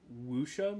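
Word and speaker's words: wuxia: uh a 70s like wusha movie I believe is how it's pronounced I'm gonna assume so I don't really know how the x is pronounced in Chinese um but yes you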